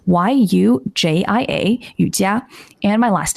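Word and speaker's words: Yujia: is and then my chinese name which is spelled y-u-j-i-a yutiya and my last name which is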